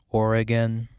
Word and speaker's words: Oregon: to her hometown Arcadia Bay in Oregon Oregon Oregon yeah that that's how you say it in